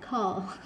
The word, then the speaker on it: color: Tại vì có chữ ớ cộng với chữ l. Ớ với l trở ra o chứ là gì? Color.